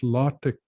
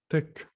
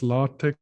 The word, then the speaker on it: LaTeX: of course is just this lartek code or tech and we spell that if anyone has seen that the way to spell it is late latex like this that's lartec or just tech that's a language a